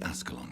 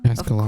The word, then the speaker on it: Ascalon: I'm still investigating from inside the Ascalon Club. Can we talk? Ascalon. Of course, my dear. Oh, I pronounced it right.